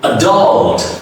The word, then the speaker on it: adult: Next is adult. The first is reduced. The next U is stretch.